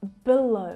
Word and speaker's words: below: Và đó là bởi vì âm tiết thứ nhất không được nhấn âm trong từ below và các em có thể nghe âm schwa rất lười ở đó.